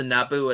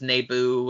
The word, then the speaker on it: Naboo: pronouncing them uh but george lucas not only refers to naboo as nebu and and so on and